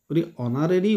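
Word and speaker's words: honorary: holding দা post option আছে এ এন্ড ডি অনারি word টুর যদিও আমার এইচ কনসোনেন্টের আরম্ভ হইছে এইচ টু আসল সাইলেন্ট অর্থাৎ এ হ সাউন্ড টু উচ্চারণ না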